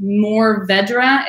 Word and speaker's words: mourvèdre: new Vedra that is how that grape is pronounced mourvèdre is but the are is not really apparent